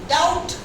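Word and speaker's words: doubt: माउंट, माउंट, माउंट, MAUNT, डाउट, डाउट ना, अभी लिखती हूँ, डाउट, DAUT, बहुत कायदे की चीज पूछी उसने, डाउट, DOUPT, B silent, DAUT, डाउट, बी नहीं आएगा, स्प्राउट, SPRAUT, स्प्राउट, स्टाउट,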